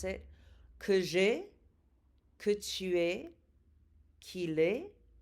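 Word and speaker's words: que j'aie: It's que j'ai. That A-I-E is just pronounced E.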